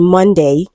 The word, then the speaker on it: Monday: So the answer to this question is option A because um letter O in Monday is also pronounced as A.